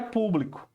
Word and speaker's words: público: Então, ela está sendo acentuada na antepenúltima, né?